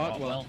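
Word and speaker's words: Ottewell: Otwell, how do you pronounce that? Otwell.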